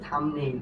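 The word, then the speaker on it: thumbnail: কি থাম্বনেইল, এই যে দেখো এই যে এমবিটা যে আছে এখানে বি এর উচ্চারণ হয়নি, থাম্বনেইল।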